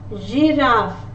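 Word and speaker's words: girafe: When G is followed by E, I or Y, in French, the sound for letter G will be J. J. Giraffe, orange, because G is followed by the letter I, which is here in the list, and here G is followed by the letter E, which is also here. So in this case, letter G is pronounced as J.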